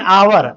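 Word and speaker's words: hour: एन आवर, आवर it means घंटा। एच से start हो रहा है। लेकिन हिंदी प्रोनाउंसिएशन इसका आवर होता है और आ जो है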